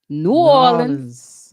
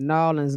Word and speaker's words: New Orleans: way from you know new orleans okay you gotta say it like that new orleans new orleans new orleans